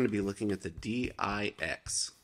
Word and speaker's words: DIX: today we're going to be looking at the d i x pronounced d i x other people pronounce it different